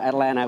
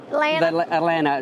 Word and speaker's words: Atlanta: know we call it Atlanta without Atlanta yeah exactly that the last T doesn't get pronounced it's gonna sound really